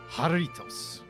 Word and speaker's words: Jarritos: I believe it's actually pronounced Jarritos.